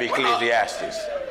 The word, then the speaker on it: Ecclesiastes: ask J I have eclesiastes chapter you have Ecclesiastes that's right you said it right you said